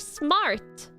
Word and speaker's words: smart: Uh and then you have smart which is smart. Smart. Uh I actually don't pronounce the I don't pronounce the R that much in that. Like I don't roll the R much in smart.